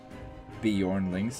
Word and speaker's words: Bjornlings: Bjornlings, yeah, that's how it's pronounced. But I usually pronounce it Bjornlings just for, you know, being silly. What's with these stupid soft J's?